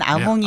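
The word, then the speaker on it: Hamon: 네, 그 유명한 아몽이 아몽. 지금 등장했네요. 하몽이라고 읽으면 안 됩니다. 네. 아몽입니다.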